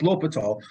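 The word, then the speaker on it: l'Hôpital: give you the eye it's l'hopital although i cannot write l'hopital and talk at the same time because in my head i have to say hospital to spell it correctly but that's how it's written l apostrophe hospital but l'hopital's rule all right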